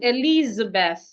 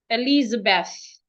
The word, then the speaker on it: Elizabeth: The next word is Elizabeth. Elizabeth. The th put your tongue outside. When you have t and h in a word, if the h is not silent, your tongue should be outside. Elizabeth.